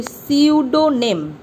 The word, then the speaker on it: pseudonym: এক্ষেত্রে তোমরা দেখো প্রথম লাইনেই তোমরা একটা নতুন শব্দ শিখলে, যেটা হচ্ছে pseudonym। পি দিয়ে শুরু হলেও উচ্চারণটা কিন্তু হবে pseudonym, ঠিক আছে?